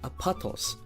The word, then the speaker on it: Apotos: places for yourself apatos or as the locals pronounce it apatos is the country of